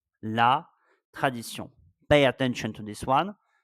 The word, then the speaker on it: tradition: La tradition. La tradition. The missing letter was N. La tradition. Pay attention to this one. As you can hear, we don't pronounce N when we are reading la tradition.